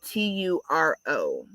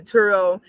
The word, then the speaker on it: Turo: rent it out through a site like turo that's spelled t-u-r-o turo is a car sharing marketplace where you